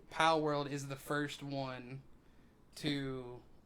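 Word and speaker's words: Palworld: Well, let me stop you there because we're gonna say something about Polyworld. Did I say it right? No, Pal World.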